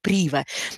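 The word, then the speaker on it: Privé: при его то есть в принципе читается но по правильному club prive но вот представители отеля говорят о том что правильно называется club прево это территории wheels которые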